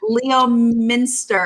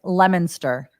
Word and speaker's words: Leominster: do you say it you're not going to believe it it's leominster leominster yeah it makes no sense no you can't no